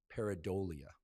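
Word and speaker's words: pareidolia: like something else but the correct pronunciation is peridia and peridia is our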